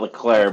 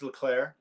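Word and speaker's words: Leclerc: Landon Norris yep Charles Leclair isn't it weird how they say his name yeah because it ends with a C yeah I always think they're saying Sean Leclair but Charles Leclair George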